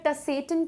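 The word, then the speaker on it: Tsetan: अब आप बोलेंगे कि ये टी को मैं सेटन क्यों नहीं पढ़ रही हूँ, तो ये जो टी है ये साइलेंट है इसलिए सेटन बोलेंगे।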